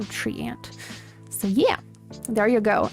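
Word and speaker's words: treant: So and it's spelled t r e a n t. So tree ant.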